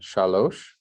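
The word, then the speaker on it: שלוש: let's do it again shalosh shalloshima very good do you hear the similarity in the sound shalosh cello you hear the similarity in the word okay so that's your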